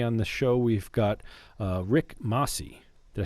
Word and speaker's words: Rick Masi: And today on the show, we've got Rick Masi.